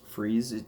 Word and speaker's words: Fries: fries now his name is fries but it's pronounced fries it's weird but now Batwoman didn't really do